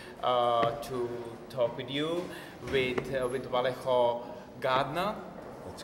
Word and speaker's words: Vallejo Gatner: having the opportunity to talk with you, with Vallejo Gatner. That's correct. The pronunciation was correct.